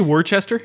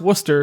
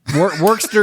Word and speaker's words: Worcester: Scots midlo and M did you just say Worchester yeah okay so people Josh just said Worchester so one more time Worchester kilty it's called Worcester pronounced Worcester yeah worker you hick Worster kilty fine hey guess